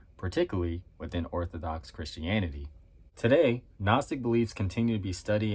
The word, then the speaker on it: Gnostic: many times I had the urge to say no Gnostic like that that silent G like I I might